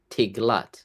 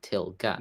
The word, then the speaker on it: Tiglath: Cuz normally it's till it's Tiglat, not Tilgat.